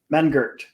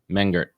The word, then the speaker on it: Mengert: ask you this off what's what's the proper pronunciation of your last name man Gert man Gert yeah cool man Gert let's fix that up